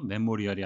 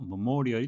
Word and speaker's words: memorial: Memorial 발음에 유의하셔야 되겠는데요. 메모리얼이 아니고 memorial이 되겠습니다.